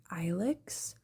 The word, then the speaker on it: Ilex: Anyway, but yeah, and so our baby's name is Alex Rain, and his name is a real word.